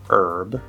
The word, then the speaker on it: herb: sound now note that sometimes you will see the letter h and it's silent it's just spelling like in the word hour or in the american pronunciation of the word herb and sometimes you will